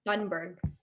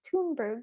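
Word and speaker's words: Thunberg: to pronounce her name probably it's stunnberg i think it's pronounced toonberg though it's th yeah but she's from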